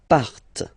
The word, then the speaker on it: partent: And the last persons, il, elle, partent. Remember, classic ending, ENT, but then you don't pronounce them.